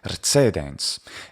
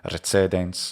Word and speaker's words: recedens: This speaker is using a TS sound, a ts for the C, E, tse, recedens. And that would be perfectly fine in the pronunciation of, say, medieval French or of medieval German pronunciation of Latin, including the more modern pronunciation of German Latin, recedens.